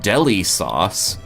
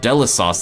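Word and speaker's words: Delisauce: delici sauce delish sauce I used to think when I first played this this was like Deli sauce yeah but it's actually a unique term they came up with called Dela sauce like delicious sauce in mother 2 this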